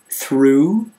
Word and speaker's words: through: o u pronounced U through with a silent GH and here's some funny